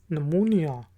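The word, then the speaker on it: pneumonia: तो ये याद रखने की बात है कि इसमें P साइलेंट है। साइकोलॉजी नफ्सियात को कहा जाता है, साइकोलॉजी। इसके बाद वर्ड है PNEMUMONIA, नमूनिया।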